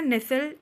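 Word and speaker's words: nestle: ऑनेस्ट नेक्स्ट word है हमारा नेसल एन ई एस टी एल ई नेसल नेसल मतलब होता है लिपटना चिपट ना इसमें टी ध्यान दीजिएगा साइलेंट है सिनोनिम्स क्या होगा स्नूजर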